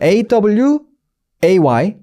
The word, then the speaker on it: away: 자, 강세가 이제 없는 부분을 여러분들이 집중해 주셔야 되는데, 자, 저 멀리라고 말할 때 away죠. A-W-A-Y, away. 보세요. away. 강세가 어디냐면 뒤에 있어요. way에 있어요. way.